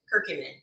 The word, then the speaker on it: curcumin: culture um look that's it how do you pronounce that person it's curcumin I have a cute man I took off